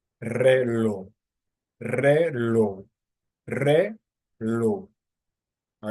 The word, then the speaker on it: reloj: For example, the word reloj, reloj, reloj. So re would be the first syllable and then lo the second syllable. So you start down here, then you ascend. Reloj, reloj, reloj.